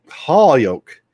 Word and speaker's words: Holyoke: How do you pronounce Holyoke? Holyoke.